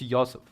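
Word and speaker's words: Йосиф: And it's mostly because, again, Joseph is not, in Ukrainian, Joseph is not pronounced with J, it's pronounced with Yo. So it's Yosef. That's why it's not Joseph Stalin, it's Yosef Stalin.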